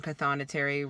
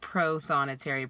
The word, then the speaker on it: prothonotary: while editing that i've been saying pathonatary wrong it's prothonotary there is an r in that word but i have not been pronouncing it because i am from